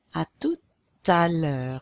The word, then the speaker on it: à tout à l'heure: À tout à l'heure. You're pronouncing that T now because it's followed by a vowel.